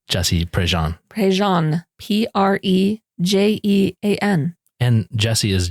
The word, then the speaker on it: Prejean: Wait, for the people, let's tell them how you spell Jesse Prejean.